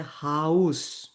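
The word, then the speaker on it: Haus: সো দেখেন এখানে একটা ওয়ার্ড লেখা আছে হা আ উ এস। এটার উচ্চারণ হচ্ছে হাউস।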